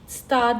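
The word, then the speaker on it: Gstaad: या तो आपको एक स्टार नाम की जगह है। जी साइलेंट होता है।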